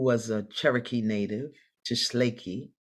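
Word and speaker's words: Tsalagi: a cherokee native to schleichy is the appropriate name but americans say cherokee so she was a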